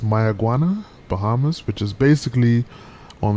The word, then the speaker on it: Mayaguana: we're heading over to my iguana i believe that's how you pronounce it uh and i didn't say my iguana like the lizard i think that's how it's pronounced my iguana bahamas which is basically